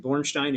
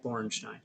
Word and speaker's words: Borenstein: is spelled, and Bornstein is Borenstein. Bornstein.